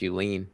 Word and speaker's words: Julien: a pre-show to clarify my last name is pronounced you lean i'm trying to get